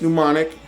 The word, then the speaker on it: Mnemonic: I spell it Mnemonic. But yeah, that's right. It's Mnemonic.